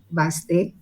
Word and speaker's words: Baste: I think the pronunciation of Baste is Baste. And I'm here to talk to you about the book Sheltering Angle.